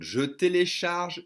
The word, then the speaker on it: je télécharge: Again, they're going to drop the E and try to connect the J and the T, and it'll be turned into a sh.